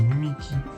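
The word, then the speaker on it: Mimiqui: Mimiki. Ah, c'est lui Mimiki. Du coup, moi, je regardais Polo. Je regarde Polo, du coup, c'est Mimikyu qui dit. Du coup, je tendance à l'appeler Mimikyu, mais c'est Mimiki.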